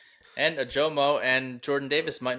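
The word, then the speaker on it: Ojomo: Ajomo. Ajomo. You like the Ajomo Yes. instead? Yes. No, he's not Spanish. You pronounce the J.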